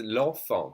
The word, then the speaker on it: enfant: This is l'enfant, the child. L'enfant, and we don't say the T.